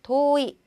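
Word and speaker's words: 遠い: 오에다가 오를 붙였더니 오이, 오이 좀 쉽게 할 수 있고 또 다치스 때 또에다가 오를 붙여서 도이, 遠い, 멀다라는 뜻으로 자, 遠い 길게 발음해 주시면 됩니다.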